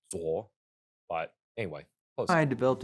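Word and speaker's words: 左: In fact, when Chef Peng Cheng Quan It's pronounced Zuo, but anyway.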